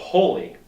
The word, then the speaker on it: Holi: This one is called Holy, okay? And in English they spell it H-O-L-I.